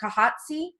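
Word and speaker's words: Khatieza: your daughter as well yes i'm going to pronounce her name properly kahatsi it is a k-h-a-t-i-e-z-a okay thank you she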